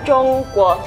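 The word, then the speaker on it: 中国: Ini bacanya Zhongguo, Artinya China.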